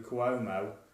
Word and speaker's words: Cuomo: So this week, Governor Andrew Cuomo, is that how you pronounce his name, Mark?